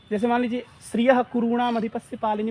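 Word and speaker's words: श्रियः कुरूणाम्: और जिह्वामूलीय का उच्चारण अर्ध विसर्ग की तरह होता है, यानी ऐसे पढ़ना चाहिए, श्रियः कुरूणाम अधिपस्य पालिनी, जो ऐसे श्रियः कुरूणाम गलत है, श्रियः कुरूणाम अधिपस्य पालिनी प्रजासवृत्तिम यमयुं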